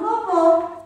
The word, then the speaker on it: vovô: Vovô tem o som fechado. Vovó tem o som mais forte.